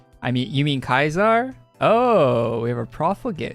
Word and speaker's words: Caesar: So everyone in like the Caesar's Legion, they would say Kaiser, right? And then any of the NCR you would come across in the game, they'd all say Caesar. And the pronunciation, depending on the allegiances of the person, would change.